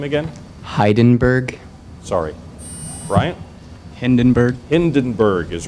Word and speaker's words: Hindenburg: Hindenburg.